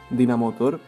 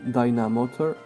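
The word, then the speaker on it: Dynamotor: eléctrico con dinamoto Bueno dinamotor aunque es una pronunciación un poco española sería Dyna motor Electro Ball como ataque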